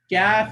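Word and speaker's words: كاف: Kaf is pronounced by touching more of the hard area than the soft, but it's kind of going into both of those areas.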